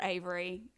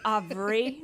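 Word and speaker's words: Avri: cute with her name so i have a daughter named avery and it's spelled a-v-r-i and so she gets aubry she gets that's what it says she gets aubrey like it's french and then gillespie can't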